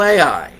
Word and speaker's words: Ai: how you say it is it a i no very simple ready ai makes sense so last week we